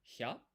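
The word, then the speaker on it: ひゃ: And so this hi and ya forms one blended syllable called hya, hya.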